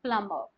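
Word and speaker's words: plumber: language के अंदर कि अगर आपको बी मिल रहा है बी से पहले यू are getting letter M तो आप बी के साउंड को वहां पर साइलेंट कर देंगे कम थम नम राइट प्लम जो कि पानी वगैरह टंकी वगैरह या फिर पाइप्स वगैरह ठीक करने आते उनको प् बोलते हैं प्लमर राइट वहां पर भी एमबी आता है सो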